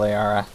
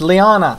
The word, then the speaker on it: liana: It's not that kind of Liara. It's just these things. Oh, it's Liana! Sorry, my bad. I apologize. It's not an R, it's an N.